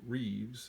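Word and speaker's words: Rives: Too Long in the Sun by a man by the last name of Reeves, I think is how you pronounce that, R-I-V-E-S, Too Long in the Sun.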